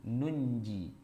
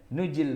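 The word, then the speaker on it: نُنْجِي: Nujil mu'minin. Tapi kita disuruh jangan baca nuji, salah, bacanya nunji. Tapi nunnya emang nggak ditulis. Di rasam Utsmani aslinya itu tidak ada nunnya. Tapi Anda bacanya dengan nunji.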